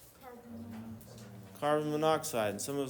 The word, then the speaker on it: monoxide: We're not going to say mono oxide. Why not? Because it looks like monukide. That'd be goofy, right? So if there's two if there's two syllables, we just cut or sorry, two two vowels, we cut one of the vowels out. Cut the right one out just to make sure it sounds like the element name.